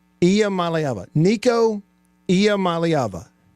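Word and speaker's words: Iamaleava: pronunciation easy for me to say the correct pronunciation save that one for the soundboard is uh IIA malava did I get it IIA malava I malava niiko I malava say it with me niiko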